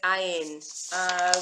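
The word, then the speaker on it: עין: Yes, this is ayin is another silent letter.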